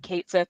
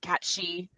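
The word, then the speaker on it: Cait Sith: in your face for saying Kate Sith instead of Cat She. I just Potato. What Cat She? What's Cat She? has anyone played Final Fantasy VII? No. Okay. There's a character named Kate Sith. It's spelled Caitsith, and I think it's supposed to be Gallic.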